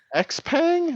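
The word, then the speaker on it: Xpeng: they're like EX sh how do you say that X Pang not Shia you're like what xang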